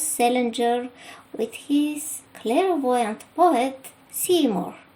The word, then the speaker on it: Seymour: with his clairvoyant poet Seymour, whose name is spelled differently but sounds like I see more.